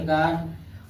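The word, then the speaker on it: guard: इसको इसी तरह पढ़ेंगे गिटार, इसको इसी तरह पढ़ेंगे गार्ड। और भी साइलेंट नहीं होता है, भी साइलेंट नहीं होता है।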